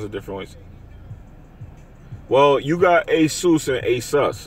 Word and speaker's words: Asus: a sus it's the the one that I'm talking about is Asus that's the actually main way to say it is called Asus it's like that's how you name it it's a sus that's how you say it so God is